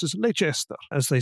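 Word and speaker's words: Leicester: Earl of leester you get to hear and pronounce is leester as they saying it's a fabulously strange romantic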